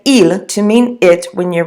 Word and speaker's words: il: examples in a little while but you say eel to mean it when you're referring to a